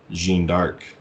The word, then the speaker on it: Jeanne d'Arc: A little less mainstream even than Axiom Verge is Jeanne d'Arc, which is actually, it's called, this is the French pronunciation.